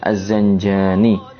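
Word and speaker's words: الزنجاني: Di Az-Zanjani tulisannya adalah Al, kemudian Zai, Nun, Jim, Alif, Nun, Ya. Az-Zanjani. Jadi mohon diperhatikan pelafalan panjang pendek suatu kata.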